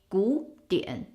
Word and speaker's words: 古典: But again, when it's pronounced as one word, it will be 古典. Changing the first character third tone to a second tone.